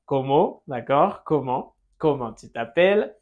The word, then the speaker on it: comment: Ensuite, comment? Comment? D'accord? Comment? Comment tu t'appelles? Nasal final. Comment? Et on ne prononce pas la T.